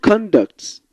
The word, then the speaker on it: conduct: as a noun over when you stress the first part of the word conduct it's a noun conducts when you say the second part is above so you see how